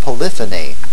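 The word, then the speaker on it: polyphony: terms of syllabic accents monophonic and polyphonic Accent on the first syllable for the adjectives and monophony and poony Accent on the second syllable for the nouns notice that the words are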